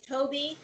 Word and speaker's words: Thowe: hopefully in october november my last name is toby but it's spelled t-h-o-w-e there's no b there i know it's fear